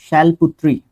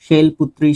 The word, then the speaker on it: शैलपुत्री: गोटेस शैली शैल शैलपुत्री शैलपुत्री शैलपुत्री कुछ इस तरीके से आप इसको प्रोनाउंस एक तरीके से कर सकते हो इज द फर्स्ट फॉर्म